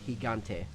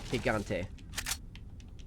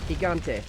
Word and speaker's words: Gigante: Because yeah, we're about to come face to face with El Gigante. I have to stop myself from saying the hard G now that I've learned.